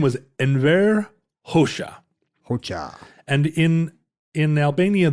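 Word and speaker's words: Hoxha: Marlin was it Randy his name was en HOSA HOSA and in in Albania the the letter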